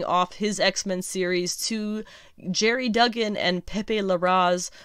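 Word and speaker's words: Gerry: through listening to podcasts it is jerry duggan and not gary even though it's a g so go figure um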